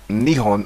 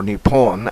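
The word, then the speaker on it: 日本: their fans the Japanese word for Japan is pronounced Nihon or Nippon and literally means the origin of the Sun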